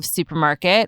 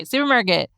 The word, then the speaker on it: SÜPRMARKT: Olympia Auset is the founder of SÜPRMARKT, which is spelled SUPRMARKT, basically no vowels. A low-cost organic grocery. There are two vowels in there. Oh my God. Okay. Well, I said basically no vowels. It's missing the E's, okay?